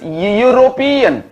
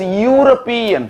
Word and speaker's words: European: Similarly, European, the word European, the first letter is E, but it is not pronounced as European. It is pronounced as European. First sound is Y. Therefore, it is a consonant sound.